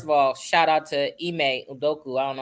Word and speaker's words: Ime Udoka: First of all, shout out to Ime Udoka. I don't know how to pronounce his name.